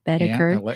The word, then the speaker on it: Boedeker: um my nephew is the County Judge Chris beter it is pronounced beter does he call you an Alexa no never